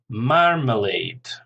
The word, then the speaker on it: marmalade: Marmalade, stress on the first syllable, 3 syllables again, marmalade.